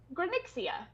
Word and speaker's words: Granixia: Granixia. Granixia. Gran Gra and Ixia.